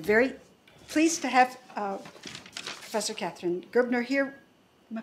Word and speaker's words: Katharine Gerbner: We're very pleased to have Professor Katharine Gerbner here. Am I pronouncing that correctly?